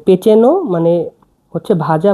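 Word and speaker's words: pečeno: ভাজা বা ভুনা ভাজা বা ভুনাকে বলা হচ্ছে পেচেন পেচেন মানে ভাজা বা ভুনা দেখুন পেচেনো পিই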